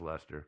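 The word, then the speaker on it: Leicester: spelled it's called light challenge uh but let's pronounce lester i really we gotta we gotta start a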